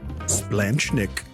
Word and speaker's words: splanchnic: The fourth and final word of today's game is Splanchnik.